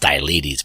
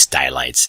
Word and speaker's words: Stylites: I've heard it pronounced Stylites, but it's really, I believe, Stylites. Stylites. Sounds like skylight.